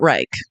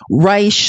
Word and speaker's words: Reich: this it's it's not Reich we already determined that like yes I understand that this word would normally be pronounced like that that's not how he pronounces it or at least that's